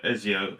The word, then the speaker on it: Ezio: name seo yeah yeah as a ezio as a physio correct like that like actually ezio